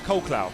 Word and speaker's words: Colclough: So, George, I sort of go with Clough. I think Clough flows Colclough, because it flows quite nicely. But obviously, Clough is the more obvious pronunciation, because it's in the name and everyone knows Clough.